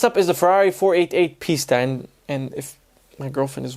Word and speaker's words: Pista: Next up is the Ferrari 488 Pista, and if my girlfriend is watching this, which she is the cameraman, she's Italian, and she's just always like, oh, that's not how you say it. Pista.